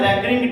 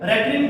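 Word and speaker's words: recurring: अब आप देखेंगे कि इसमें आपने इन नंबर्स को, ये आपको दिए हुए हैं रैकरिंग डेसिमल्स, ये आपको रैकरिंग डेसिमल्स दिए हुए हैं। रैकरिंग डेसिमल्स या रिकरिंग डेसिमल्स बेहतर प्रोनाउंसिएशन होगी, रिकरिंग डेसिमल्स।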